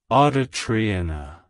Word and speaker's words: Audrianna: variation it's pronounced as Audria audit AIT to pronounce it correctly emphasize the second syllable Dre and stress the and